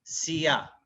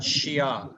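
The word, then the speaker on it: siya: but the really uh the correct way of saying it is a frontal the frontal uh you know pronunciation your your tongue is really on the front part of your mouth sia not shia you know which is the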